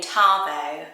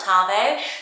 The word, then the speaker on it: Tahvo: And my last one is the name Tahvo. Spelled like this, love it. Don't have to get confused by the H in the middle because you know It's just how that's spelled, Tahvo.